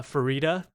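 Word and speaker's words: Farideh: you say it again uh farida like fajita yeah yeah uh-huh yeah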